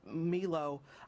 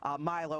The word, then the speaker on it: Milo: accept the violence that meelo Milo I'm sorry I mispronounced his name brings to the people